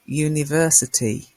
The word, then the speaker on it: university: with a you and that's because this you takes the you sound like y.o.u a university not an universe a university so we